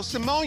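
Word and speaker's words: Raven-Symoné: Raven Simone Raven Simone no Simone is how you say her name they were over pronouncing it so hard well because everyone called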